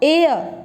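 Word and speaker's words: heir: Honest, our, honourable, honour, एयर, एयरलूम। ठीक है, अब देखो मैंने 6 वर्ड्स तुम्हारे आगे बोले हैं, दिखने में शुरू हो रहे हैं ये एच से, बट एच इज साइलेंट।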